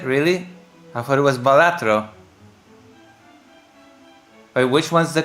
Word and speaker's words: Balatro: Uh, Because the word is based on Latin for a gesture, but the developer said whatever pronunciation makes you happy.